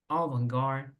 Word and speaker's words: avant-garde: Esta palabra proviene del francés. The pronunciation is a bit different.